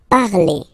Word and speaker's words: parlez: Remember, z, when you combine them together, you get the sound e. Vous parlez, all right?